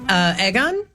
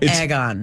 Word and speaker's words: Aegon: Oh, it's not that Aegon. It's Yeah. in between. It's egg, EGG. That's how it's. Okay. That's how it's spelled, at least.